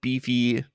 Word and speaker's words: BiFi: It's spelled BiFi, like Wi-Fi.